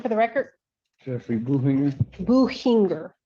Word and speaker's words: Buchinger: Buchinger, Your Honor. The C is silent? Yeah.